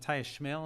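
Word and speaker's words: Schmale: The story Matthias Schmel, is that how you pronounce his name?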